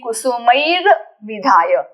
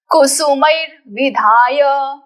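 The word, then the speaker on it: कुसुमैर्विधाय: सो कुसुमईह एंड विधाय सो we will be saying कुसुमैर विधाय कुसुमई के बाद रेफ का उच्चारण फिर विधाय का उच्चारण कुसुमैर विधाय कुसुमैर विधाय कुसुमैर विधाय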